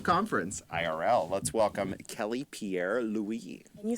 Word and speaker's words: Pierre-Louis: Let's welcome Kelly Pierre-Louis.